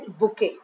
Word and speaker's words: bouquet: Student, the pronunciation of this word is bouquet. It's called bouquet. T is silent. B-O-U-Q-U-E. Bouquet. Bouquet. Not banquet. Okay? Yeah, bouquet. It is not bouquet. It is called bouquet.